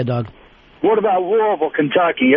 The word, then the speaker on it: Louisville: I will always say Louisville, which uh Oh, that pisses everybody off. Yeah, it really makes them mad. Yeah, it's it feels like it's more Louisville, but it's Louisville. But if you live there, go a little southern live in Louisville.